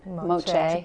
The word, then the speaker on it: Moche: And so, and one of the oldest pieces that you have in is that Moshe. Is that how you say it? Moche.